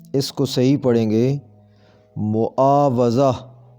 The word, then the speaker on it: معاوضہ: کو صحیح پڑھیں گے معاوضہ، واو پر زبر آتی ہے، بالعموم اسے واو کے نیچے زیر دے کر پڑھا جاتا ہے، تو ایسے صحیح پڑھیں گے معاوضہ، معاوضہ۔ محاسبہ، یہ لفظ